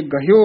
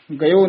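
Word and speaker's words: ਗਹਯੋ: लई है वाहिगुरू जीओ, इस करके गहयो उच्चारण करना है, गयो नहीं कहना है।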